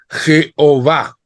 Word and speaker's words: Jehová: vocales jh W H Nosotros le pusimos una e y una a y pronunciamos Jehová la Iglesia Católica Perdón pusimos e o a Je va mientras que la iglesia católica puso una a y una e pronunciando javé o yavé no pero que dijimos